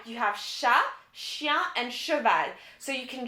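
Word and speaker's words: chien: so yes jake you're right you have shah shia and chaval so you can just pretend the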